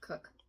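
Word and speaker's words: Koch: K O C H. Yeah, sometimes that's pronounced Cook.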